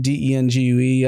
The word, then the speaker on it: dengue: been infected through sewage with Zika virus dang d e n g u e I don't know if I'm pronouncing that right.